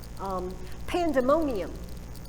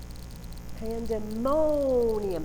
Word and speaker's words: pandemonium: The first one, right? Pandemonium. Pandemonium. It's the third. Do you see? I don't say pandemonium. I can't even. It's hard to do it wrong.